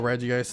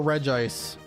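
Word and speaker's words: Regice: Also, do you guys pronounce it Reggi ice or Reg ice? This is another question that I need to ask. Oh, and if I'm mispronouncing Pokemon names or not, cuz I always thought it was Reggi Ice, cuz you know, you pronounce it Reggie Steel, Reggie Rock, Reggie Ice. Reggie Ice.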